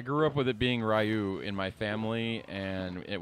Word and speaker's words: Ryu: right be Ryu it's Ryu it's pronounced Ryu yes it's Ryu no not that one